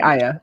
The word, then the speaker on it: Aya: much for joining us am i am i pronouncing your first name absolutely ayah okay uh uh that's always like i always